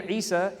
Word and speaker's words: Eesaa: Well, I'll tell you right now, my name Eesaa is the Arabic pronunciation of Jesus.